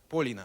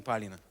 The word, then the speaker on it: Полина: Тем более Полина пишется через О. Полина, а не Полина.